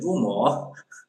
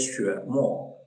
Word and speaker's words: Xuemo: also some people say rumor, yeah, and the X, that's not the pronounce in English, okay, sure, okay, we say that sure more, okay, X, okay, so that's a little different.